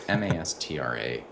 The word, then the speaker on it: Mastra: It's interesting you mention YC because I keep mentioning Maestra or Mastra. I don't know how they pronounce it. It's Mastra.ai.